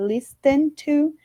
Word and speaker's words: listen: Eu sei, tem um T aí na palavra, mas em alguns casos no inglês, quando nós temos esse encontro de ST, muitas vezes esse T ele não tem o som pronunciado, né? Como o T que nós conhecemos no português. Então, a gente fala listen to, mas nós falamos listen to.